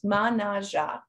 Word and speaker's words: Mannaggia: I mean, first off, you've probably heard me say it a few times, but the pronunciation. So it's Mannaggia, and it's actually loosely translated into Dam of the Don.